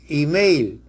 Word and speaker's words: email: Entonces, es un error escribir carta y email, porque no hay eufonía. Lo correcto es carta e email, por la unión del buen sonido, E con E, pero E de email, inglés, suena I.